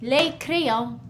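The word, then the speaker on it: les: more than one and in French we say leo as you can see the s is we don't pronounce it we write it we see it when we read it but it's just leo all right good job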